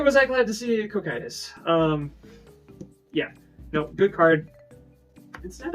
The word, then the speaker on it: Cocytus: But we were short on one of these, so I'm at 3 Coctus Breath for this list. We were hoping we had one more, because it's just an indiscriminate... Pronounce that again? Cocytus.